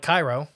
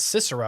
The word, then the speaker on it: Cicero: far it seems except I can't pronounce Cicero that's okay because I kept calling it Cairo oh it's okay you should let me apparently it's Cicero should let me read